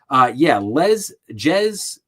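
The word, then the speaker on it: Jes: So, Jez, I think it's pronounced Les. I think it's spelled with a J, but I think it's like Les Staley.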